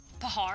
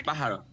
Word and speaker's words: pájaro: Pahard? It's pájaro.